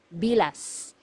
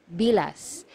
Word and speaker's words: bilas: one sister-in-law sister-in-law is bilas bilas so you have to be very careful with this one you have to pronounce the letter S at the end because if you mispronounce